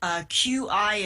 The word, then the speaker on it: Qi: And would the Chinese word, I think sometimes it is spelled QI in your book, and some places do it as XI or something, but it's Qi.